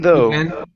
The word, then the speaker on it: though: The H, the G and the H are not pronounced. Okay. So, this is even. Even though.